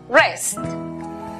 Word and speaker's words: wrest: La W antes de R al comienzo es muda. Por lo tanto, la pronunciación para la palabra arrebatar es wrest.